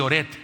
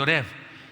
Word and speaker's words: Oreb: Hay gente que dice Oret, ¿verdad? En lugar de Oreb, dice Oret, Orek, porque está difícil.